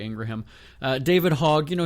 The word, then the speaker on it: Ingraham: Laura Ingraham or Ingram, depending on how you say her name. I say Ingraham.